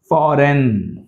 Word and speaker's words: foreign: Phlegm, phlegm, G sound pronunciation మనకి రాదు ఇందులో. Phlegm అనకూడదు, phlegm. Foreign, foreign, right?